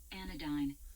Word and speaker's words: anodyne: Let's see how it's pronounced. Anodyne.